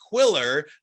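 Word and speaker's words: Qwilr: Jonathan Blackburn he is VP of sales at quiller that's spelled q w i l r you can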